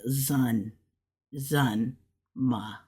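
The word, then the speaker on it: 怎么: but zma so it's kind of like a zun zma that's kind of what that is and then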